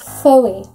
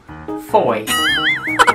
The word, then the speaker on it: Fowey: Fowey. Nope. Fowey? Nope. Fowey. Nope. What is that word? You pronounce it Foy.